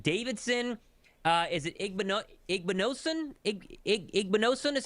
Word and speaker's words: Igbinosun: Igbinosun is how you say his name, Anthony?